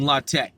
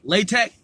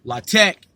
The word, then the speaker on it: LaTeX: like a prophylactic rubber often you'll hear lock Tech or lay tech but it's not latex okay so get that